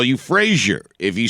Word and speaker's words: Fraser: Fraser. Yeah, it's Fraser. Spell it with a Z if you want me to call you Fraser.